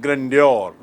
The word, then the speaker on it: grandeur: उच्चारण देखिए, ग्रैंड से बना है ग्रैंड्योर।